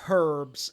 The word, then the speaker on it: herbs: to keep calling it herbs I call it herbs the H is silent there's some chamomile that's